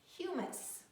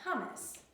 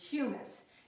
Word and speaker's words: humus: surface of the soil this soil is called humus not hummus it is humus you can see it's very dark kind of